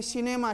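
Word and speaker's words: cinema: सी पर city, cement, cycle, मान लो CI में सिनेमा, किनेमा नहीं बोलेंगे, ठीक है ना, CIR CUS सर्कस, सर्कस, समझते हो ना।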